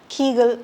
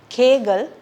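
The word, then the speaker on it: Kegel: so this is the kagal exercise it's commonly mispronounced as keal exercise it's kagal exercise so next we have the autoist we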